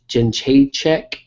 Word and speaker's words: Jędrzejczyk: I think she can end up taking it down and grinding out a decision win against Jędrzejczyk.